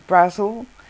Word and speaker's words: Brazil: And this side of the family, because the family name is Brazil, well, they pronounce it Brazil like the country, but it's actually Brazil, and that's connected to Ireland, Southern Ireland.